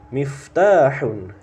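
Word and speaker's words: مِفْتَاحٌ: qolamun pena berikutnya had miftahun had miftahun Nah harus jelas Fa mati dan ta panjangnya harus jelas Bang hadza miftahun ini sebuah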